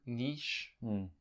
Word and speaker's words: niche: say what's the word Niche niche as Americans say it Niche nich Niche Niche however you want to call it but let's test